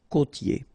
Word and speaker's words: côtier: Okay, so here you get this O, accent circumflex. You tend to insist a little bit more on it, so it's a bit lower. Co. Okay, côtier. Okay, I-E-R here. Ye. Côtier.